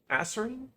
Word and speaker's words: azurine: Azurine? No, it's pronounced azure, so azurine.